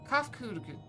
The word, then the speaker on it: Kafkud: As for nomenclature to address my individual person, I believe it would be pronounced Kafkud. Cough and cold, got it.